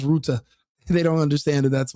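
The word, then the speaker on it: Rutte: And it's Mark Rut, not Mark Rut. Everyone in America has been calling him Rut today. They they they don't speak I think he's Austrian or German. They don't speak. They They can't pronounce Ruta.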